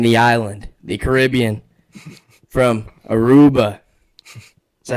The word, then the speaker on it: Aruba: Today, we have a new guest from the island, the Caribbean, from Aruba.